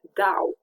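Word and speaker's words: dau: the word dao yeo dao i give where i am giving or yeah they care for they are giving and this is pronounced like the o u in words uh such as mouth yeah we already know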